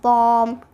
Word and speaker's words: bomb: a few examples on my copy also like bomb climb calm thumb dumb crumb and sometimes it is not pronounced when it comes before T like that